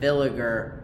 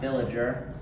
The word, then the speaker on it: Villiger: Bayer villager, not villager. People have been playing a little too much Minecraft, I suppose. Um, what's called the Bayer Villiger oxidation and basically we